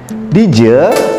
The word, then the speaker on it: dija: Huruf akhirnya A, dija tulisannya, namun dalam bahasa Bali pengucapannya dije.